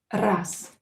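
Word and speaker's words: раз: word will become unvoiced z will become s. ra s ras ras mesits ya is reduced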